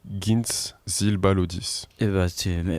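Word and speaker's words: Gints Zilbalodis: C'est un laiton qui s'appelle Gintz Zilbalodis. Merci pour cette prononciation.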